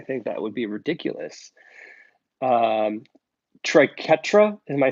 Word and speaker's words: triquetra: that's what it looks like trike UTRA trike triquetra triquetra and Jacky mum triquetra years thanks Jason